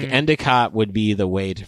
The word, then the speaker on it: Endicott: or as they would say up there endot that I turned turns into an E up there.